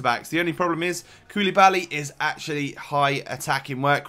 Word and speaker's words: Koulibaly: Koulibaly, that's how you say it.